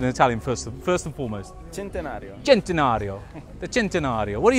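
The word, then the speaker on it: Centenario: you think of the gentario how do you pronounce it in Italian first first and foremost gentario gentario the gentario what do you think this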